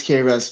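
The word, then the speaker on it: K-Russ: Am I saying it right? Yeah. Yeah. It's It's K Russ.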